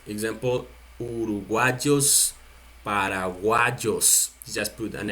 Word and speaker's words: uruguayo: Uruguay, you just add the O. The same country, you see, Uruguay, the same thing, but you add the O and you pronounce the Y like J. Uruguayo, Uruguayo.